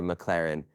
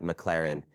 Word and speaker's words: McLaren: This part pisses me off because he says the name wrong like eight times in a row. It's not McLaren, it's McLaren.